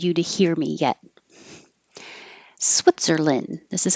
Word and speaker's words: Switzerland: Switzerland. This is how Americans pronounce it. Switzerland. We don't say land. It's lin or lun, but not and. Switzerland.